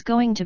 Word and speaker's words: going to: old is she she's going to be notice how this is pronounced like gonna be she's going to be